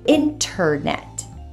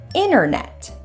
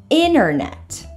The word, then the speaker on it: internet: in Britain silent T the T after an N is often silent in American pronun iation instead of saying internet Americans will frequently say internet internet let's go over some